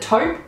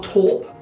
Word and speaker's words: taupe: always get confused here is it taupe or torp i guess it depends on where you live how you say it but i say taupe i hope that's okay